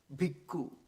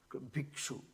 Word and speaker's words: bhikkhu: That is bhikkhu, bhikshu, that means the pronunciation. Ka is the Pali equivalent to ksha.